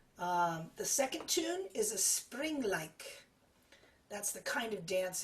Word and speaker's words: Springleik: The second tune is a Springleik. That's the kind of dance it is. So it's the word spring, and then like is spelled L-E-I-K.